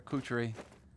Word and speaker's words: Kuchery: Kuchery. Rhymes with butchery.